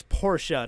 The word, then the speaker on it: Porsche: it's all these things by the way it's Portia to all the people who pronounce a Porsche you drive me insane okay Portia anyway I